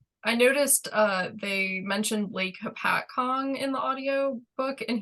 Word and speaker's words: Hopatcong: the audio book, and he pronounced it, I want to say it was like Hoppet Kong, which Yes. shook me to my core, because I was like, is that the correct way to say that word? And Yeah, but we're not gonna go with that. It's Hopatcong. Some things you need to